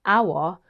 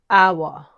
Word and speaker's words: hour: I have an hour left. Which word in this sentence do you think contains a silent letter? Hour. Hour contains a silent H. Instead of hour, just say hour.